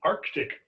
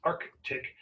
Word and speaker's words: Arctic: And of course, the Indian Ocean, and at the top, the Arctic Ocean. Notice it's Arctic, not Arctic. You want to make sure you add that C in there if you need to know how to spell it.